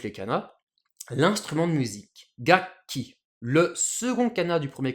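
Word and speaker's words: 楽器: Alors, les lectures sino-japonaises sont gaku plus ki, ce qui devrait nous donner gakuki. Mais ça, gakki, c'est pas évident, c'est pas hyper naturel à prononcer pour les japonais. Du coup, le second kana du premier kanji, ce ku, se transforme en pause, ce qui nous donne gakki, ce mot qu'on a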